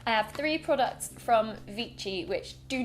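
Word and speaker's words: Vichy: I use is the vichi oh it's not vichi is it it's vichi cuz it's French I'm really bad at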